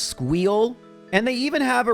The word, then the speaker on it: SQL: SQL, which is apparently pronounced Squeal, and they even have a really interesting Linux course.